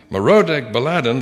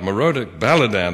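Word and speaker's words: Merodach-baladan: ahaz at that time merodek baladan the son of baladan i didn't pronounce that first one right moroda baladan the son of baladan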